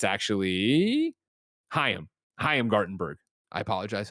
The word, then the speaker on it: Chaim Gartenberg: Oh, the story I just did for Luna, and it's actually Chaim Gartenberg. I apologize, Chaim Gartenberg.